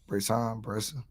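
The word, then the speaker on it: Bresee: Bresson.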